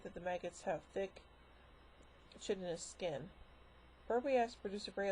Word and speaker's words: chitinous: the term, told him to announce the first syllable chit rather than more correct kite.